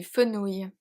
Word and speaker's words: fenouil: So the one word that take O-U-I-L is du fenouil.